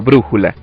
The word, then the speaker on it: brújula: Por ejemplo, la palabra zapato solo se puede pronunciar así y no zapato o zapató, y tampoco podemos pronunciar brújula o brújula, sino brújula.